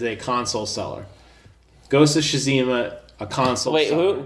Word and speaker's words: Tsushima: Ghost of Tsushima, a console seller. Wait, who? Ghost of what? Shazima?